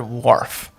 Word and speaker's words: wharf: couldn't spell the word Wharf so let that sit in the H is silent some people like waa